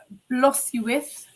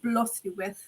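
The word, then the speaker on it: Blodeuwedd: Arianrod, Blothuwith, or Blodeuwed, if you want to say it how it's actually spelled, but I do understand it is pronounced Blothuwith.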